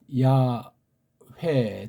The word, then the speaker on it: 여호와: 다음 해자, 바브자, 해자, 이걸 한글엔 여호와 이렇게 이제 오늘날 이렇게 이제 굳어져 있는 표현을 써요. 여호와라고 읽습니다. 조금 젠치하는 신학자들은 뭐 야회 등등 이런 소리들을 또 이제 하고 있는 건데,